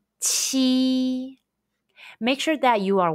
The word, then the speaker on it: q: pinging the pronunciation is chi chi chi chi it's like the ch in the english word cheese but with a stronger puff of breath when you pronounce the